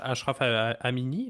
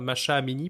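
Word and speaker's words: Mahsa Amini: L'Iran, après avoir eu quelques complications avec les fameuses révoltes, protestations de Ashraf Amini, là, pardon si je le prononce mal, là, Masha Amini, pardon, eh ben, on n'entend plus vraiment parler, hein.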